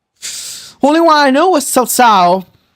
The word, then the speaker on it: Cao Cao: I'm surprised that you knew how to pronounce Cao Cao. A lot of people pronounce it Coco.